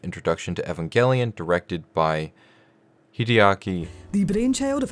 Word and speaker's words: Hideaki: us a brief introduction to Evangelion directed by Hideaki the brainchild of Hideki I know I know I know look I'm